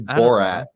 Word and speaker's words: Borat: you calling all right are you calling it bow all right it's Borat know what no talk